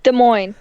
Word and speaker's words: Des Moines: 54, he allegedly took his computer to Geek Squad at Best Buy Des Moines. Am I even pronouncing that right? Des Moines.